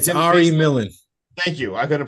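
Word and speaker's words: Ari Millen: Bob his name's Arie something and he said Ari Millan thank you I couldn't pronounce it Ari Millan and he says the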